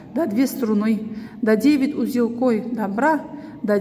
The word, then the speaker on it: струны: Две струны. Ударение падает на букву И.